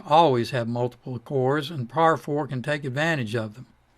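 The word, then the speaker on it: parfor: to finish with that it's called par 4 spelled p-a-r-f-o-r and it stands for parallel for loop considering its meaning i guess it might be more consistent to pronounce it pair 4. nobody does that par 4 was introduced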